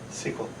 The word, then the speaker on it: SQL: How do you pronounce the thing that's spelled S, Q, and L? Is it SQL or SQL? SQL.